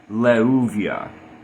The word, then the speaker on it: Leuviah: Um, when it comes to the English pronunciation, comparing all of the classical sources with how the name is pronounced in English or Latin letters, we have conformity, leuvia. What are the sources for this? So the lammed is le. The first vauv is u.